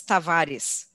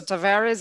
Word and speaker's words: Tavares: to virus yes well if you pronounce it in portuguese it's tavares but that's difficult so tavares is perfect i'm gonna